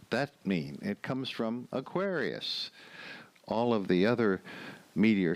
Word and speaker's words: Aquarius: But Aquarius, going from Aquarius, where the accent is on the second syllable, to the Aquariids, accent on the first syllable, that's a little bit of a jump.